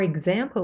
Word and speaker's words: example: again slowly example example here the letter X is also represented by two sounds but this time it's G and Z both of these are